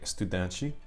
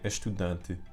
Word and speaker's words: estudante: And then if I said it in Portuguese from Portugal, I would say estudante. So we can see that that sh sound exists in Portugal, European Portuguese, but not in most regions of Brazil and not in Spanish.